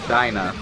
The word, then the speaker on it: Duibhne: So apparently it's pronounced Dyna, and I will go with that.